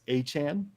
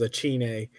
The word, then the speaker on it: Achane: So I think it's Achane. I mean, it's better than what Quaz says, Achine.